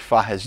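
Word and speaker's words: Fages: They pronounce it in Spanish, Fajes.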